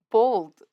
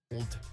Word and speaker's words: bald: Bald, bald, For Bold. whatever reason, it's common in America to pronounce this word as though it was spelt with an O and not with an A, which led to some confusion.